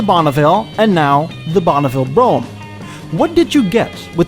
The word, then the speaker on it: Brougham: broadmobile or broomfication and why is it pronounced this way why not browcom why do you skip about three letters i'm not going to